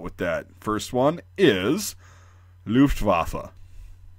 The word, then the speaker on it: Luftwaffe: through this video is the W in German does not make a W sound like it does in English, the W, you know, water or whatever.